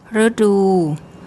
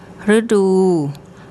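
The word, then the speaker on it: ฤดู: and then the next syllable is the dordek, the D consonant, and the long oo. Rudu, Rudu, Rudu.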